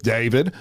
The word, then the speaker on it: D4vd: Apparently, how his name is pronounced. So we're going to go with David.